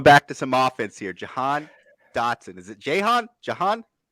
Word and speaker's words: Jahan: so next going back to some offense here jahan dotson is it jaehon jahan john john jahan